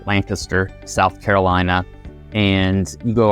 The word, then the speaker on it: Lancaster: Communities, and that one's located in Lancaster, or as the locals say, Lancaster, South Carolina.